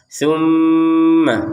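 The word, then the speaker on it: ثُمَّ: Kita beri lebih ya tambah satu harakat lagi menjadi dua harakat. Tumma seperti itu. Maynya langsung nyambung ke ya jangan dipisah. Tumma yumi.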